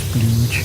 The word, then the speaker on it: Splodge: It's called Splodge, but pronunciation is Splooge.